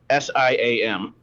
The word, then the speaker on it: Siam: addition nations like sam how do you say that duane cm psalm i don't know how to say that one where what s-i-a-m right siam thank you which successfully avoided conquest